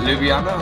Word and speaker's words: Ljubljana: It's been a year almost since I was playing in, I don't know how you pronounce the city, is it Ljubljana? Is that how you pronounce it?